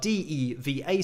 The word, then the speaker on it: Deva: pegasus supporters group and i'm not sure if i've had clarification yet if it is diva but that is what i'm calling diva even though it's spelled d-e-v-a so it could be deva but i'm gonna say diva just because it sounds a little bit more cool in